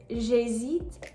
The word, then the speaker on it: j'hésite: The correct pronunciation is j'hésite à acheter le hamburger. You'll notice that none of these H's are the h sound.